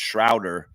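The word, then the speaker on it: Schröder: Okay, they have the pronunciation here. It's Schroeder. Schroeder.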